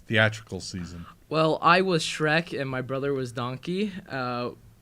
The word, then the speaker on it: Shrek: really big effort, to You try were to pronouncing Shrek wrong? Or? Yeah, I kept saying shriek.